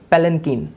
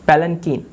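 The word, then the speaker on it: palanquin: इसे हम बोलेंगे पैलेंकीन, पैलेंकीन। स्पेलिंग पे मत जाइएगा, प्रोनाउंसिएशन पे ध्यान दीजिएगा, ठीक है, पैलेंकीन।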